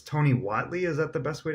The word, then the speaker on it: Tony Whatley: today is, I'm going to probably say your name wrong, but it's Tony Whatley.